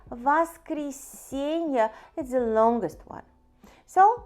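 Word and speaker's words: воскресенье: finally the last one is sunny which are pronounced vas creasing here vas creasing vast creasing is the longest one so let's repeat parney Zelnick Tour Nick Frieda here peten itza sobota vas creasing so it's just the names of we race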